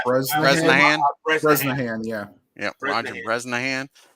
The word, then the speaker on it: Bresnahan: And for your New York Giants, leading off is, how you pronounce that, Beatles? Bresnahan. Bresnahan. Bresnahan, yeah.